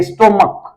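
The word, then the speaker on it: stomach: देखिए स्टोमक, इसको हम लोग इसका उच्चारण करते हैं स्टोमक कहते हैं, स्टोमक जिसका मतलब होता है पेट।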